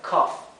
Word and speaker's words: cough: Fíjense que esta combinación de vocales se pronuncia A, que es un sonido entre medio de una A y de una O. A, ¿sí? Por eso esto se pronuncia cough. No se pronuncia en realidad ni cough ni cough. Es entre medio.